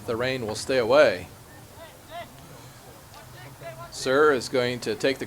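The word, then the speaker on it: Hser: his teammate uh sir it's actually spelled HS e r but you don't pronounce the the H so it's sir and The Archers appears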